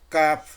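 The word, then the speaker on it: قاف: হলো তালু, তালুর সাথে জিহবার গোড়াটা একটু আগে বাড়িয়ে কাফ, কাফ, কাফ।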